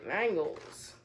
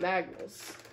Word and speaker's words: Magnus: up we have the mangles or how do you pronounce this thing or magnus not mangles but magnus and um we actually